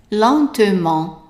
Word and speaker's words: lentement: Lentement. Lentement. And here I underline the T, meaning that it is silent.